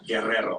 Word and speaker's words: Guerrero: Guerrero. I'm one of the few güeros that can pronounce the double R in Spanish.